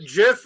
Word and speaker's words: GIF: yard you pronounce it Jiff or gif the inventor of the GIF says it is Jiff but I think everybody